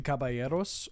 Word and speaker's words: caballeros: The Three Caballeros.